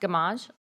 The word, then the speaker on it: Gamage: to the microphone and is your last name pronounced gamage okay i want to make